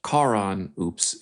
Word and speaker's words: Karen Hoops: Um was we have a new character on the show named Karon Oops. It's spelled Karen Hoops, but it's pronounced Karon Oops.